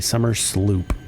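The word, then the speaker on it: Somersloop: out real quick so here is what a summer Sloop looks like and it's pronounced s it's spelled s o m e r s l o o p summer Sloop and there's a reason a very good reason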